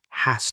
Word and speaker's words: has: Soft Z sound has. She has to read it. Hard S sound has to.